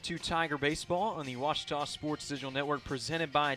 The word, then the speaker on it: Ouachita: Ouachita Sports digital Network I've heard people say oh a cheetah oh Wichita oh a cheetah is it pronounced oh Akita super Washita Baptist University back in Texas everybody pronounces it Wichita but really it's Ouachita Washington how would you pronounce it Baptist University get it right it's Ouachita people it's Ouachita place for